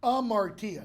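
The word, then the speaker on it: hamartia: t a that's pronounced am Martia the H is silent okay this is the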